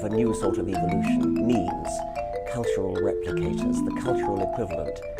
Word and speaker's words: meme: So I call it a meme. So it doesn't exactly rhyme with gene, but it's sort of short and sounds vaguely similar.